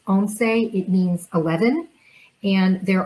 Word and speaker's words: once: the spanish speakers o n c e is pronounced onsei it means 11 and there are examples in